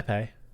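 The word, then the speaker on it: épée: bigger than an epee, if I'm even pronouncing that right. Yeah, epee.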